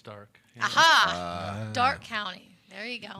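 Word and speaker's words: Darke: there's not an eye in it oh they say dark county it's dark dark county there you go the east side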